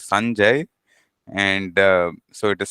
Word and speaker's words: Sanjay: I I think uh Sanjay is not is not the right way you would go about pronouncing the name yeah so it is the the pronunciation and the emphasis is on the first syllable usually so it is Sanjay and uh so it